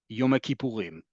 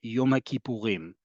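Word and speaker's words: יום הכיפורים: In Israel, most people will refer to this holiday as Yom Kippurim. In English, we often say Yom Kippur or Yom Kippur for some people. In Hebrew, modern Hebrew, it's pluralized. Kippur is, we often translate as forgiveness. Kippurim, because there's a lot of things we need to be forgiven for, right? Or atonement is another way it's translated. Yom HaKippurim in modern Hebrew.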